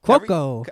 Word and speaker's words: Cuoco: Cuoco. Yeah, she's like Cuoco.